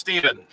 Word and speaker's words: Stefan: Stefan, not Stephen. It's pronounced Steven.